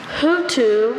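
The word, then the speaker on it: houtou: Hutu, can I have it in a sentence?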